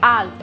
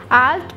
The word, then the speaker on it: alt: the alt Al is there we should not pronounce it as a t Okay alt okay alt plus p down key is used to move